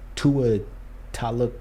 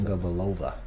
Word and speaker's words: Tagovailoa: And you remember the controversy last year with Tua Taluk, I don't even know how to say it. Tagovailoa.